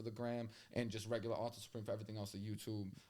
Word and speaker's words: Author Supreem: But Author Supreem, like a book author, so not King Arthur.